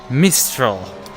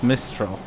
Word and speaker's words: Mistral: letter in it mistral in this case i actually got the full name right except that i pronounced the last letter which um well it's french so the last letter is always there just for decoration purposes miss kill okay